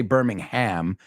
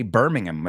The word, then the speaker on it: Birmingham: to join Birmingham Birmingham they don't say Birmingham they say Birmingham I think that was